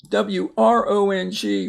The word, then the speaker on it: wrong: Wrong, W-R-O-N-G, wrong. If you write wrong, R-O-N-G, you wrote it wrong.